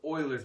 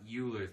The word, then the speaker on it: Euler: that one rule 106 it's pronounced Oilers method not Euler's method and by the way